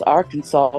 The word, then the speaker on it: Arkansas: The provision specifically says that pronunciation with the accent on the second syllable with the sound of an A, as in man, and the sound of the terminal S is an invocation to be discouraged.